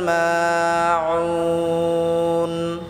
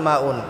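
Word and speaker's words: الماعون: ওয়ায়ামনাউনাল মাউন, আমরা অনেকে আছি ওয়ায়ামনাউনাল মাউন, হামজা ওয়াও পেশ উ বলি। এখানে হামজা ওয়াও পেশ উ হবে না, আইন ওয়াও পেশ উ, গলায় চাপ দিয়ে উচ্চারণ করতে হবে। ওয়ায়ামনাউনাল মাউন।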